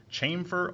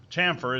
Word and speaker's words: chamfer: you were born in people also refer to this as chamber or camper which is incorrect of course chamfer is the only correct pronunciation of that word but I will point